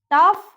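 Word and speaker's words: tough: वो वर्ड्स क्या है देखिए, रफ, कफ, टफ, इनफ। यहाँ पे जो GH है उसको हम घ प्रोनाउंस करेंगे, घ, ठीक है।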